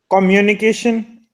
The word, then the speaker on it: communication: to pronounce it so what is the right pronunciation of this word is communication the stress over the M right communication communication uni